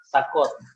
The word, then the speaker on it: Sacode: Jadi pronounce-nya bisa Sakod, gitu.